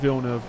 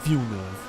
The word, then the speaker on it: Villeneuve: Well, I think Doom Part 1, the Denis Villeneuve, why did I say it like that? Villeneuve.